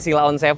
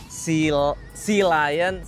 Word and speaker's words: Sealion: Jadi pengucapannya bukan sila on ya, tapi se Lion S.